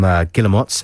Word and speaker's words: Guillemot: That was Trains to Brazil from Guillemots, and before... Is that how you pronounce it?